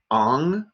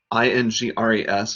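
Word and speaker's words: Ingres: close attention to include ong ing res is properly pronounced on an american artist who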